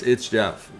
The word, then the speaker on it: It's Jeff: It's It's Jeff is the correct way to say that.